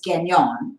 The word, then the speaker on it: Gagnon: we first got married I wanted to pronounce it the French way so I would tell people it was genyon which right you know sort of like mignon they could get that